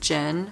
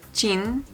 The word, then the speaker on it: Jin: You know, when I say, whether I say Jimin or Jimin, whether I say Jin or Jin, I make it a hard J.